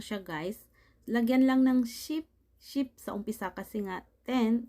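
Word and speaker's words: 십: 9, ku, 10, ship. Ship, ayan. Yan po ang pagbigkas, guys. Ship, hindi siya sip, kundi ship.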